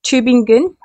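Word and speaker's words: Tübingen: than Bower a patriotic scholar and philosopher at tubing in okay so I've actually looked up the pronunciation of this name and it's tubing gun Albert schwigler gave the schools theories their most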